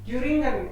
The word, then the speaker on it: Thüringen: Thüringen perfect Thüringen H is silent Thüringen H is silent here okay on Ralf Jürger